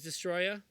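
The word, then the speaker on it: Destoroyah: Which I've been saying this guy's name wrong for as long as I live. Destroya. It is Destroya?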